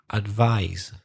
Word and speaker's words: advise: Advice and advise. Advice, advise.